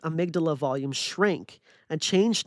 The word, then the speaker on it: amygdala: For instance, a longitudinal study of MBSR reported that reductions in stress were correlated with decreased volume of the amygdala?